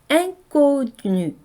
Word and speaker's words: inconnu: 먼저 en으로 시작하는 이 음절이 바로 앙이라는 발음을 해요. 네, 프랑스어에서 비강모음이라는 것이 있는데요. 모음 뒤에 n이나 m이 연결될 때는 바로 코로 모음을 발음을 해주거든요. 그래서 이런 발음을 비강모음이라고 그러는데요. 이가 n이나 m과 연결될 때는 항상 앵 발음이 나요. 인이 아니고 앵 발음 납니다. 그래서 인connu 이렇게 발음하셔야 돼요. 인connu 하시면 안 됩니다.